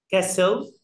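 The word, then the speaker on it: castle: كاسل كاسل يعني قلعه والتي هنا سايلنت.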